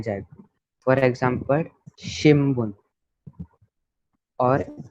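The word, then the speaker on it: 新聞: और एम्पित्सु के, क्योंकि इधर बी साउंड वाला है, ये है, ये बी साउंड का है और ये पी साउंड का है, इसलिए ये मोरा अम, मोरा को हम प्रोनाउंस करेंगे।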